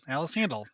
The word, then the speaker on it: Sandahl: Yeah, you gotta take the H out of there, man. It's like the H just confuses people. Alice Sandahl. Like Randy Randall. Alice Sandahl.